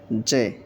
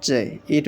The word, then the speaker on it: Z: নট জে, নট জে, it will be জেই। সঠিক উচ্চারণটা হবে জেই, জেই, এরকম জেই, জেই, এরকম।